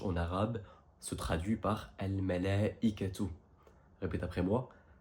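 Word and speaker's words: الملائكة: Ensuite, on a 68 fois le mot ange, et ange en arabe se traduit par Al-Malaikatu. Répète après moi, Al-Malaikatu.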